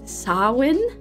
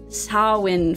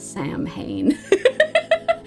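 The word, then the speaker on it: Samhain: not to call this Sam Hayne that is how it is written that is not how it is pronounced in Gaelic sain Sinn okay so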